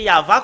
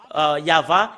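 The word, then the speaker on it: יהוה: C'est le livre de Torah qui stipule bien que c'est Yahva qu'on le prononce, et c'est avec cela qu'on le prononce au ciel des cieux, Yahva. Et tout ce qui prononce le nom de Yahva sont tous ôtés du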